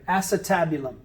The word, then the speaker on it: acetabulum: it looks like the word ace tab you lum altogether acetabulum now acetabula means vinegar